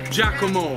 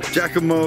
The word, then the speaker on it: Giacomo: Giacomo. Giacomo.